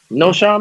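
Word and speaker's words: Knowshon: This dude's name is spelled K-N-O-W. Noshawn Marino, yeah. Look it up. Noshawn.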